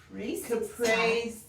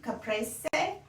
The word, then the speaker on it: caprese: is wonderful the weapon we've learned how to pronounce caprice caprese c caprese and we've learned why we don't some folks